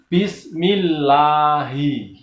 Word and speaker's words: Bismillahirrahmanirrahim: Ini contoh salah ini. Bismillahi, salah. Bismillahi, salah. Yang benar adalah Bismillahi.